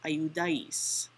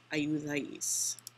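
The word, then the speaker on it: ayudáis: So this new verb ending is AIS, accent on the A, and the new word is ayudais, ayudais.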